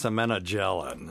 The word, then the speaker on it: semenogelin: It's semenogelin. That's how it's properly pronounced.